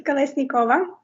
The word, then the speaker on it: Kolesnikova: name it's tricky uh my last name is kalesnikova listen kova kalisnikova yeah you're close it's it's funny i